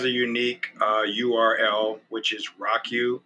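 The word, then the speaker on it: ROCU: but it has a unique url which is rock u r o c u and that's pronounced rock u r o c u dot tours t-o-u-r-s uh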